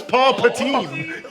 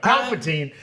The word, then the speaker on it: Palpatine: wait a goddamn minute who's Paul patin paultin Paul patine Mr patin no Palpatine uh sorry I mispronounced his name just thinking of like